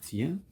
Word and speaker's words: tiens: Donc, on a tiens, tiens, donc tiens. Et le T ne se prononce pas.